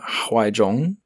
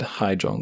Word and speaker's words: Huaizhong: Leading Wave by Xu Huaizhong. Almost said Haizhong there, but it's not, it's Huaizhong.